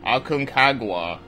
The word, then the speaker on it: Aconcagua: So the game I decided to pick was Aconcagua.